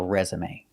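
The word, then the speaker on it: résumé: a verb it's resume if it's a noun an object it's a resume thanks for watching and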